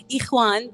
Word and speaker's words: Iquan: We have Iquan. Did I say it properly? Yes, Iquan, but I expect you to say all that.